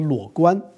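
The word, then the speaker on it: 裸官: And then for the sake of audience, we should just tell you how these kind of officials are pronounced in Chinese. It's called the luo guan.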